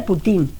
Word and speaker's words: Putin: Es que se pronuncia así en polaco, digo en ruso se dice Putin, como se dice Abramov, como se dice Davidov, no se dice Davidov.